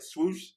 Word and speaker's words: Swoosh: Swoosh?